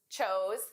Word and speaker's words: chose: Choose, chose, chosen. Notice the pronunciation difference between our base verb, choose, and the past and the participle. Choose, chose. Ooh, oh. Choose, chose, chosen.